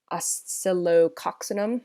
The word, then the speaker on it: Oscillococcinum: Oscillococcinum, I believe is how it's pronounced. It's a difficult one to say.